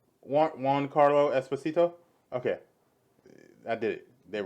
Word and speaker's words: Giancarlo Esposito: Juan Carlo Esposito.